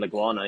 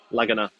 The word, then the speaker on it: Laguna: pretty sweet you're saying oh I'm saying it wrong lag on uh Lagana oh I was saying laguana yeah Laguna there we go um real nice dude